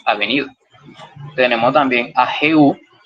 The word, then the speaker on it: Jehú: Tenemos también a Jehú, J-E-H-U, acento en la U, que significa Jehová es él.